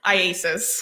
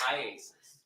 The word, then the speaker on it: IACIS: IASIS. IASIS. All right. I just want to shorten it for today. Yes. All right. So IASIS. Tell us about that program that you went through with IASIS to become a digital forensics examiner.